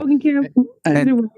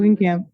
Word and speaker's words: Roggenkamp: Roggenkamp. How do you say it one more time? Roggenkamp.